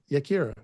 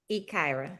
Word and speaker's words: Yakira: Yakira. Ikaira. The Y is silent.